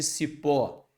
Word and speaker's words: cipó: vamos primeiro passo vermelhinho Qual é a sílaba tônica de Cipó é cipo ou Cipó se pó perfeito sílaba tônica é a última nós temos aqui uma